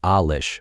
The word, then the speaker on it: Alish: name by the way it's pronounced Alish with the accent on the first syllable was 5 years younger